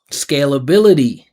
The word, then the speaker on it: scalability: So these words that finish with ITY, they all have the same rhythm pattern. Flexibility, scalability, mentality. So you see, I'm emphasizing the syllable before the ITY.